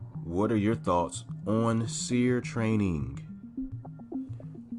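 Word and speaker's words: SERE: are your thoughts on seer training seer is spelled s e r e and basically just to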